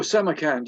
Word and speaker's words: Samarkand: Shanghai to Samarkand. Is that how you say it? Samarkand? Oh, Samarkand, yeah.